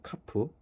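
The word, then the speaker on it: כף: 키읔 발음이고 카프.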